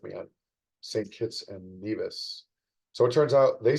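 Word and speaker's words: Nevis: Kits and Neas. So, it turns out they say neas and we say neas in the US or so I was told.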